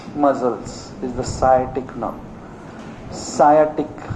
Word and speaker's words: sciatic: Sciatic, S is silent. Silent नहीं है वो, sciatic, sciatic nerve बोलते हैं. Sciatic nerve, sciatic nerve. क्या silent है, C silent है क्या थोड़ा slightly.